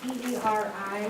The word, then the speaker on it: peri: With the P-E-R-I words, With what words? P-E-R-I, Uh-huh. is it Puri or Perry? It's peri.